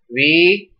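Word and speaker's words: विद्यार्थी: So this should be pronounced as vidyarthi, vidyarthi.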